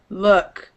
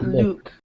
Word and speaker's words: look: problem look yeah so it's uh look not luke look i i did